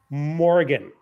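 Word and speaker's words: Morrian: spell it out first m o r r i a n the narrator pronounces it Morgan now Morgan is a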